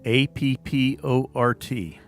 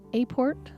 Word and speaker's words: apport: know how it's spelled a-p-p-o-r-t so some people say a-port some people say apport and as i've been looking through it i've seen most with the app port now when i first